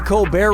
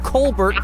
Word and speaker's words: Colbert: Okay, so Steven Colbear of the Co Bear Report changed the pronunciation of his name from Colbert to Co Bear and that's how he became rich and famous.